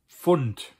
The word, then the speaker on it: Pfund: Das Pfund literally means pound.